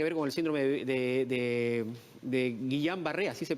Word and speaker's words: Guillain-Barré: tiene nada que ver con el síndrome de guillan barré así se pronuncia garra embarre pero sobre todo cumplir además